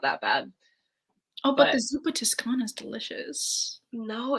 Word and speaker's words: Zuppa Toscana: that'd be called like Zappa Tuscany I'm like tell me how tell me how you are pronouncing Zuppa Toscana as Zuppa Tuscany Italian this is I